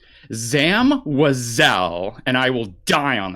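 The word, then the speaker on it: Zam Wesell: How do you pronounce her name? Zam WEHsell, and I will die on that hill.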